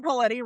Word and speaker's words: Paletti: Summer Paletti rhymes with spaghetti.